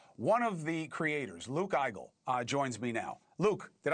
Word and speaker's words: Igel: One of the creators, Luke Eigel, joins me now.